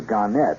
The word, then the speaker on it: Gannett: further one more here gannett or garnett they prefer to pronounce the garnet westchester newspapers starting wednesday